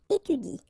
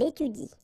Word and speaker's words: étudie: pronounce it like il étudie. Okay, so the last thing that you will pronounce will be the vowel I here. Okay, il étudie.